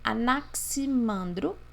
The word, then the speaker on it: Anaximandro: Pronuncia-se Anaximandro e pronuncia-se Anaximenes.